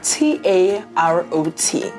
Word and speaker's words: tarot: It is spelled T-A-R-O-T, which means that the T falls away and becomes silent, so it's tarot.